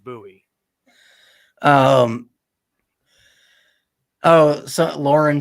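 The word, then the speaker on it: Sam Bowie: uh now Mike G I know this guy's pronounced Sam buoy because that's the guy that was picked before Michael Jordan and his name was pronounced buoy um oh so Lauren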